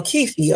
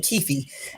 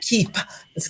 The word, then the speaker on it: Keefe: tuned stay tuned okay so Kefi okay that's his name Kei not ke it's Kei okay at least that's how he pronounced it anyway but um yeah